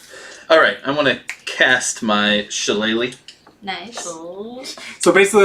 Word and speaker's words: Shillelagh: I cast Shala, and then I'm gonna attack. Shillelagh.